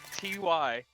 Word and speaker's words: Tyfoo: It's spelled with an F, just by the way, it's Tyfoo.